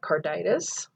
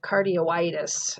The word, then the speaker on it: carditis: because here we have carditis, and we can't, if we kept that combining I there or put an O, we would have cardioitis. And so that's not the correct way to say this word.